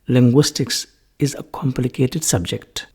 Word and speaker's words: linguistics: What is to be noted is that the CS at the end is very important. We should always pronounce it as linguistics if you refer it as the name of a subject, not linguistic. That is a different grammatical category.